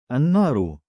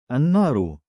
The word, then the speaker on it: النار: They are called sun letters, derived from the word الشمس meaning the sun, in which the al is not pronounced clearly. الشمس الشمس الصراط الصراط النار النار.